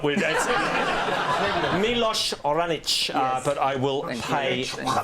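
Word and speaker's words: Miloš Raonić: who beat him Dave I love sport uh Milo reynak let's see the pronunciation no we're not we're dead milosh oranich but I will pay for that the Nadal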